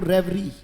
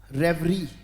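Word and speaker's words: reverie: पढ़ा जाएगा बेटा बोलो रेवरी बोलना पड़ेगा बेटा बोलो रेवरी आर ई वी ई आर आई ई उच्चारण क्या है बेटा इसका शाबाश उच्चारण बहुत जरूरी है बेटा इट्स रेवरी रेवरी को अगर हम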